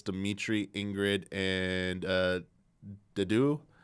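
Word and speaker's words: Dedue: For Blue Lions, I believe it's Dimitri, Ingrid, and Dedu. And he said not doo-doo, which was pretty funny.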